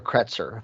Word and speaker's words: Kretzer: coy marvin hubbard and joe kretzer i'm saying that right it's spelt c-r-e-t-z-e-r and uh this information